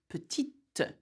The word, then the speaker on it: petite: Also, not only the spelling changes, the pronunciation does too. Okay, so for example, you would say petit, petite, vert, verte.